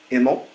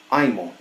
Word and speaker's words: Imel: And he said that the name would henceforth be Imel, at least in the military, and it stuck with my grandfather at least. His brothers always pronounced it Imel. My side of that family tree says Imel.